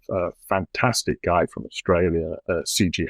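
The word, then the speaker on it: Sijie: And I saw some painting of a fantastic guy from Australia, C.G. Howe, I think his last name is pronounced. CG is S-I-J-I-E. He goes by the letters C and J.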